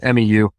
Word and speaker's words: MEU: That's Marine Expeditionary Unit, but most guys pronounce it MEU, MEU.